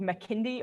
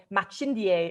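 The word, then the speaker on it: Makindye: Yeah, so I live in an area of Kampala called Makindi, or Machindie, if you're being properly Lugandan and pronouncing it correctly.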